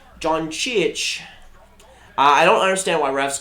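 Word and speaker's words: Dončić: It's pronounced Doncic. Doncic.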